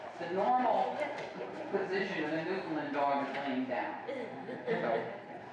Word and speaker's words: Newfoundland: So we've learned to pronounce it right. It's Newfoundland. Newfoundland. It's not Newfoundland.